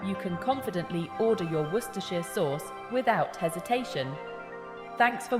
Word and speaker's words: Worcestershire: more so there you have it wer is pronounced W now you can confidently order your Worcester sheare Source without hesitation thanks for watching and don't